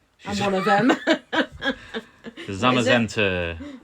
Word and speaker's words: Zamazenta: The Zamazenta, that's how I pronounce him. I think you across from the pond may say Zamazenta, I don't know, but Zamazenta to me.